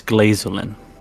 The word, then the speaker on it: Glazin: have pronounced that wrong it's glazin that's not much better like his name is uh like a play on glacier since he is a winter wolf all